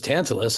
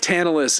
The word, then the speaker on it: Tantalus: I mean, it's crazy that his name was Tantalus and like we actually say it like tantalize.